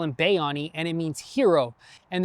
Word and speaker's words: Bayani: It's actually pronounced Bayani, but we call him Bayani, and it means hero.